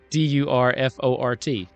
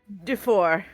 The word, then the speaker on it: Durfort: how would you say Durfort then? Because I called it Durfort. But I'm sure that's not right. Durfort. So just don't pronounce T's.